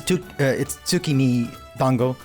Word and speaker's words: tsukimi dango: It's tsukimi dango.